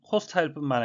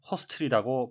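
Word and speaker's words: hostile: 신속한 속도로 퍼지고 있었습니다 미국식 발음은 호스타일뿐만 아니라 허스텔이라고 발음이 되는데요 또 다른 의미는 stronly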